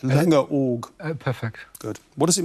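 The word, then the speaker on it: Langeoog: indeed just tell me did i get the pronunciation right linga org perfect good what does it mean it means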